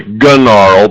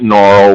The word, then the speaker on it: Gnaural: You might want to say Gunarl because it starts with a G, but I don't think the G is to be pronounced. So I go to the site Gnarl, which allows you to create binaural beats.